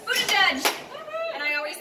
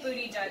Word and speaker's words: Buttigieg: Buttigieg! Booty judge, and I know that's not right, but that's how I remember.